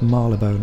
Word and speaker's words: Marylebone: Or Marylebone, but Marylebone it's pronounced.